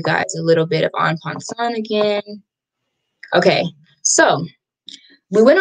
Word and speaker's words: en passant: Okay, so en passant is actually French, and it means in passing. So it's spelled E-N space P-A-S-S-A-N-T, en passant. So, and you know, I'm not French, so I don't really have the little accent with it, but yeah, so this